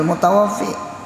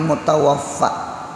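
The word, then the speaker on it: المتوفَّى: Tak bacanya manil mutawafi. Jadi ujar sidin al mutawafi Allah. Jadi jangan betakon Allah yamut, Allah mati lah. Jadi ujar guru tuh manil mutawaffa bil fathi dengan baca fathah.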